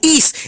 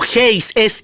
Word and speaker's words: εἷς: el texto griego hablando del adjetivo is el cual el erróneamente pronuncia como hey ses is no 6 señor fernando